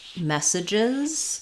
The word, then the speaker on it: messages: so mess surges um so this is a good example of messages in the second and third syllables these vowels are going to be reduced vowels so our clear vowel is in the word mess so it is just like the word mess he made a mess that has the F